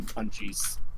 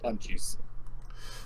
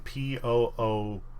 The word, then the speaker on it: Punchii: I threw an extra U in there because I would call it Punchies. But it is pronounced Punchi, as in Poonchee.